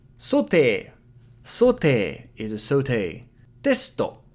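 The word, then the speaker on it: テスト: Testo. Tesuto. So here we can devocalize the su in the middle and it makes testo. Testo.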